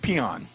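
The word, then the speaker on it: Pionk: kairu binnington and uh it's piank but they yeah the way they say it it's like peon okay peon pian in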